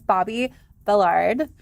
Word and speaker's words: Bobbi Billard: Please welcome to the show, Miss Bobbi Billard.